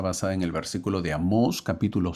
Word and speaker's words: Amós: los libros de amos obviamente es con tilde en las mayúsculas no tiene tilde aunque se recomienda que sí no le he puesto tilde por ser mayúscula pero lleva tilde amos y el otro libro